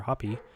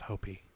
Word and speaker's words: Hopi: the poblo people Apache and Hopi or hoppy each have their own unique interpretation of what a skin walker might be it's pronounced hopy Hy please don't say